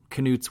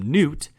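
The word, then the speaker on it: Knute: the record saying he asked knuts widow bonnie is it a soft silent k or is it a hard k and she said it's knut it's knut americans have adopted the name and just started calling him newt which is not true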